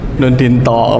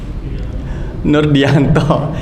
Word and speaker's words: Nurdianto: Nur Dinto. Pakai ada Nur Dinto. Yang lain? Nur Dianto. Ini nama saya Nur Dianto. Lah kok tulisannya Nur Dinto?